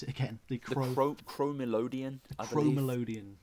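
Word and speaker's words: Chromelodeon: How do you pronounce it again? The Chromelodion. Chromelodion.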